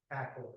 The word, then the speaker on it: Accord: is aord and um I I pronounce it aord because I heard several people say that but I've been told it's Accord so I guess we all have to be in accord it's Accord okay do you know the